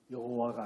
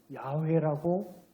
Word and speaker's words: 야훼: 학자들이 성서학자들이 연구를 해보니까 여호와가 아니고 그 글자는 야훼라고 읽는 것이 맞다 그래서 이제 하느님 이름을